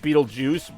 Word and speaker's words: Beetlejuice: Either way, it's pronounced Beetlejuice, but the spelling that you mentioned with the G is actually on his tombstone in the live-action movie.